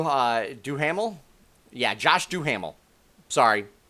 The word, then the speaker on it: Duhamel: by josh do uh do hamel yeah josh duhamel sorry mispronounced that uh who is the utopian he's